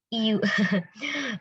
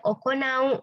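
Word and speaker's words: 行う: Nah, kalau kanji ini okurigananya adalah u, bacanya bukan iu ya minasang ya, tapi dia iu. Tapi dia okonau ya. Nah, di sini hati-hati minasang perlu di note ya, dicatat atau diingat, dicatat lagi kalau dia u, okurigananya bacanya okonau ya, atau bentuk masnya itu okona imas ya.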